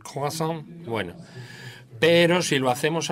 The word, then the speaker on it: croissant: Hay que pronunciarlo en francés, el croissant.